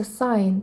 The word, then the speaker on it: sign: Звертаємо увагу, як читається sign. Так тоді у нас не прочитується.